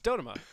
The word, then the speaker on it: Dodoma: You're all wrong, unless you're saying it like us. It's Dodoma. Yeah.